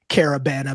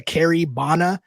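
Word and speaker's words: Caribana: little thing called carabana I'm gonna emphasize carabana because I heard too many American pods when discussing uh the Grady dick pictures of him at carabana mispronounced Caribbean I heard a carabana I heard a Carrie bonna I was just like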